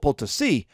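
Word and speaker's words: Potosí: literal mountain in bolivia we call it poulticee p-o-t-o-s-i with an accent on the eye but it you could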